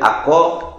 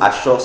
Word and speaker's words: Achor: J'appelle Akor ou Achor s'écrit A-C-H-O-R.